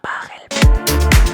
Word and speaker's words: Pachelbel: Así que nada, espero que hayáis disfrutado del vídeo y la próxima vez que escuchéis el canon de Pachelbel, recordad, se pronuncia Pachelbel.